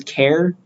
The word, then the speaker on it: char: there's a type called Char some people pronounce it as care I'm just going to read it as Char that's how I learned